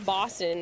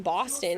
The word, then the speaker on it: Boston: a Boston accent um because O's have an au or an aw sound to them. I don't even know how other people would pronounce it. Like what? Bo. I don't even know how other people would. Um, but it's Boston. If you say anything other than Boston, it sounds funny to me.